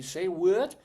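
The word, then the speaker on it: Say Whut: Yeah, well, it's say what, but it's spelled W-H-U-T.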